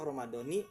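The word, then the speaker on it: رمضانِ: Nah, jadi dibacanya kasroh Ramadoni hadis sanati karena jadi mudof kepada hadis sanati ya, seperti itu.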